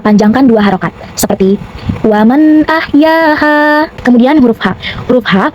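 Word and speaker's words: أَحْيَا: Maka huruf mim kita panjangkan boleh 4 sampai 5 harakat seperti fakaanama ahya ahya jika berhenti ya hukumnya matabii karena ada alif sebelumnya berharakat fatha maka jika berhenti ya panjang dua harakat ahya namun dibaca panjangnya hanya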